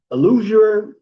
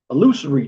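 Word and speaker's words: illusory: Utilizing the allusior truth. That's the allu um allusion. Let me pronounce that word back. Allusory truth.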